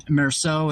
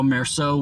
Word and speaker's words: Meursault: if you're gonna, because the L is silent in French, right, for that word, but the L might